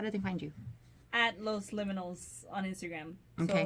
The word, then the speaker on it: Los Liminals: At Los Liminals on Instagram. Okay. So liminal rhymes with criminal. Just add up S, make it plural.